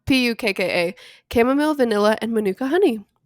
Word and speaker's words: Pukka: Do you know how to say this brand? Puka? No. Pucka? I don't know. Pukka.